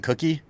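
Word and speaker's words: Cooke: Did you call him Darwin Cookie? Darwin Cook. I always don't pronounce know. it wrong. I want to say it's Cook, but Cookie is good.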